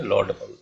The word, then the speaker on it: laudable: This is pronunciation symbols हैं। Law, long sound of ओ, ऐसे सी उल्टा सी पाओ और डॉट लगा दो दो ऊपर नीचे। लॉ, ड अ साउंड, ये कमजोर साउंड है।